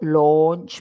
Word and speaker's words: launch: And if you look at my lips, or launch, my lips are perfectly round. It's an O.